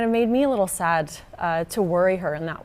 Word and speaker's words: SAD: I was sad, which is funny because it's pronounced sad, Right.